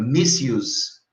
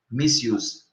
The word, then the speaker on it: misuse: Porque em inglês se fala use, é a pronúncia, o prefixo é miss, aí fica misuse, misuse.